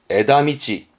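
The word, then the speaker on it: 枝道: 그럼 발음은 에다미치.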